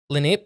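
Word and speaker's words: Lenape: group of uh okay lenp is how you say the tribe huh l n a p Len native American group I don't know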